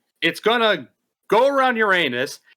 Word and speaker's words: Uranus: Uranus. Tomato, tomato. Jackson, it is pronounced Uranus.